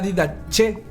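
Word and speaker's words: Didache: de ellos fue la didaché así se pronuncia y dh pero aún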